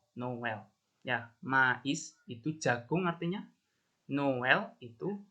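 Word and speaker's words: maïs: Kalau nggak ada aksonnya, ini I-nya, bacanya me ya, seperti tadi itu, me. Tapi kalau ada trémanya seperti ini, ada 2 titik ini, bacanya jadi mais. Ya, mais ya, mais. Dua-duanya vokalnya itu jelas dibaca. Mais.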